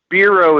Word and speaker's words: Biro: seventy percent german uh bureau is the actual how do you pronounce my last name uh i didn't know